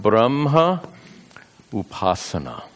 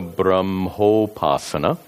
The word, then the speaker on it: brahmopasana: By the way, these words can be combined, and it's pronounced nirguna brahmopasana, if the words are combined. Brahmopasana or brahma upasana when the words are separated.